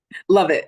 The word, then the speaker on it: Lovette: Today, joining me is Miss Lovette. Lovette, right? Did I say it right? Love it. It's like Okay, great.